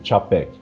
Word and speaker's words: Čapek: já me instruiu que aquele acento circunflexo pronuncia-se como se fosse um TCH, tipo Čapek, né?